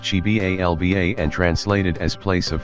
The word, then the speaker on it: Xibalba: Beneath the earth was the dark realm of Xibalba, pronounced Chibalba and translated as place